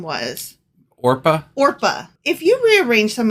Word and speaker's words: Orpah: Orpah?